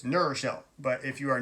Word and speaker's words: New Rochelle: I grew up on the mean streets of New Rochelle, or if you're not from, you pronounce it New Rochelle. It's New Rochelle, but if you are not from New Rochelle, it's New Rochelle.